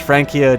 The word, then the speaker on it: Francia: why it happens great frany should be pronounced frankia just friendly help fair enough I'll probably just still calling it Francia but I appreciate uh